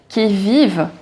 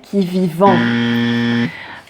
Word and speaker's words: qui vivent: j'ai rendez-vous dans un sous-sol avec des fous qui vivent la guitare à la main du soir au matin alors ici tu as plusieurs choses intéressantes qui vivent alors ne prononce jamais qui vivant quand tu as un verbe et quand il